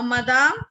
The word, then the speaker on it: madame: Now, madame is simply like badam.